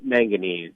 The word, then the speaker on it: manganese: So during the tests, though, some residents reported cloudy water and increased I'm going to not be able to pronounce the word. Manganese.